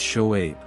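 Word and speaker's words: شعيب: land of Midian his name in Hebrew is pronounced yitro while in Arabic it is shoaib the name ruelle or rajual was also associated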